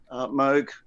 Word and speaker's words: Moog: Yesterday was, everybody knows, or most people have heard of what they think is called a Moog synthesizer. It's actually a Moog synthesizer. It's pronounced Moog, as in Vogue.